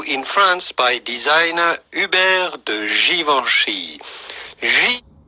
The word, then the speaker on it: Givenchy: founded in 1952 in france by designer uber givenchy givenchy javascript how does that sound guys let me